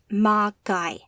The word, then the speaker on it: Magi: of them Kronos they call themselves Magi pronounced ma guy and yes there's more